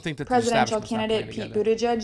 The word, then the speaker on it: Buttigieg: How do you say it? Buttigieg? Buttigieg. Okay. Buttigieg across the USA.